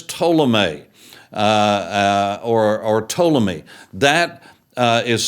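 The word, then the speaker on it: Ptolemy: the other is to uh uh or or toomy that uh is spelled PT o l m y uh simply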